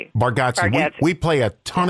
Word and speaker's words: Bargatze: Okay, with um How do you pronounce Nate Nate Bargatze. Bargatze.